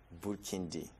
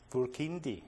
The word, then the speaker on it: Burkindi: So Burkina come from More, and you actually say Burkindi. Burkindi. Burkindi.